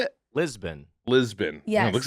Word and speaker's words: Lisbon: How was Libsyn?